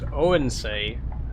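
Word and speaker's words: Odense: It's pronounced Oensay.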